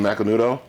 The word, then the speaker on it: Macanudo: Sir, do you mean macanudo?